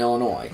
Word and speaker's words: Illinois: You don't pronounce the S in Illinois.